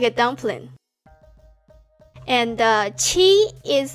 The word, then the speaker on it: 七: Qi you can remind together with Genshin's character Qi.